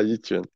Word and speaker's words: Yi Quan: Alors, dis-moi si je le prononce mal. Bon Le courage. Votoit Yi Quan. C'est ça, vote what Yi Quan. Ah, Yi Quan.